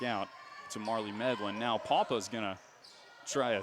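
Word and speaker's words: Pawpa: Papa. And that's spelled P-A-W-P-A for those of you keeping track at home.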